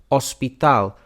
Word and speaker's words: hospital: We have a silent H in the word for hospital, hospital, and let's take a look at the Spanish word for city.